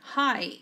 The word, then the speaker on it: high: Pay attention, we don't pronounce these two. It's like saying hello, like saying hi. Yes, well, high. What's the meaning of high? Alto. The airplane is flying high in the sky.